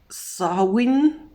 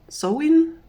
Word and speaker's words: Samhain: oh as i saw so you are supposed to pronounce it sarwin sewin some something along those lines some some something along